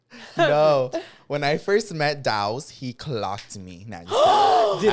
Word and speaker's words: Daus: they do yeah but isn't your name is pronounced the literally the way it's spelled that's that's what I say all the time it's literally this the way it's pronounced cuz like d a